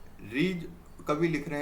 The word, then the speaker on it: ऋ: उच्चारण करते हैं ऋ। उच्चारण तो ऋ बोलते हैं इस तरीके से। आधा र प्लस छोटा इ।